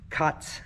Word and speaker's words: Kurtz: My last name is Kurtz, and in Pennsylvania Dutch it's pronounced Katz, which is the same word they use for cat.